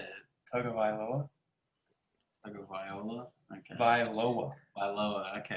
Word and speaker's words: Tagovailoa: for Tua Tagovailoa. Is that how you say it? Falcons up 3-0. How do I say Tua's last name? How did you say it? Tagovailoa.